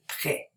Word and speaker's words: prêt: So, the accent circumflex doesn't change the pronunciation of the A, the I, the O, or the U, but it changes the pronunciation of the E. And we pronounce it prêt.